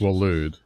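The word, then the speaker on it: Waloed: Walud, okay, that's how they pronounce it.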